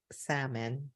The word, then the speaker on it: salmon: hotel she's flying salmon salmon the L is silent the same definitely what's